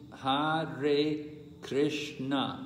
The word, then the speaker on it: Hare Krishna: So this is there's a certain number of syllables in the mantra. 在这个曼陀罗之中有一些特定的音节。 We say Hare Krishna. That is Hare Krishna. That is there are four syllables there in Hare Krishna.